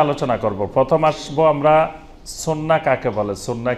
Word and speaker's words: সুন্নাহ: তো এই জন্য বেশি পরিচিত আমাদের দেশে সুন্নত নামে, কিন্তু এটা শুদ্ধ আরবি উচ্চারণ হলো সুন্নাহ।